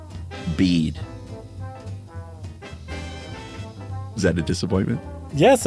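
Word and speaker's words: Bede: can assure you that the pronunciation of his name is the same as bead is that a disappointment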